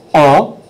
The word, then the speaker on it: un: 2 3 and four one is uh uh and uh it's like you've been punched in the gut if you're trying to think how to say it uh uh okay du